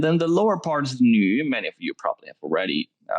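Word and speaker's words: 女: shelter right and then the lower part is new many of you probably already know it new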